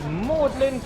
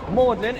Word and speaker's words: Magdalene: on my right hand side here this is mlin college now mlin is a bit of a strange name especially